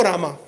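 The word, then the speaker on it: राम: It is not Hare Krishna, Krishna Krishna, Hare Hare, Hare Rama. No, it is Hare Ram. Hare Ram, Ram Ram, Hare Hare. When we say Rama, it means it's a different meaning.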